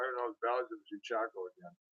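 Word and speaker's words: cheechako: But I don't know, the ballads of Chichaco again. That's how they say it up north. Chichaco.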